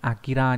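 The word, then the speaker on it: 明: Cái chữ Minh này thường đọc là Akira nhá.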